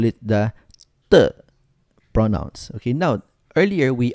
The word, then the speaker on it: 的: and letter E, but it is pronounced as letter T without air, and the E there is actually the so it should be read as 的.